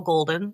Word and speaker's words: Goulden: Golden. And Golden is spelled with a crazy U in there. It's pronounced golden, but I'm Welsh, so we like to throw you's in.